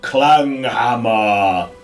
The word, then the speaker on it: Klanghammer: You're saying it wrong. It's clang hammer.